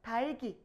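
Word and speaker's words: 닭이: 이렇게 뉴스에서 말하면 아나운서의 발음이 여러분들은 조금 낯설다, 이상하다, 어색하다라고 생각할 수 있지만 사실은 달기 이렇게 읽는게 정확한 발음이에요.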